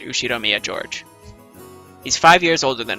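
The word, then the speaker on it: Ushiromiya George: knew she'd Omiya Jorge pronounced you she Romeo George he's five years older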